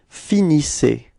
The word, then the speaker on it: finissez: Okay, so you can see that the ending, the last two letters, so Z, are pronounced like E. Okay, isse. All right, and you get the form vous finissez.